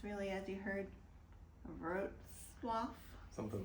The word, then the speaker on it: Wrocław: It's spelled W-R-O-C-L-A-W. Wrocław. We will probably just call it Wroclaw, which is how we would pronounce it, but it's really, as you heard, Wrocław.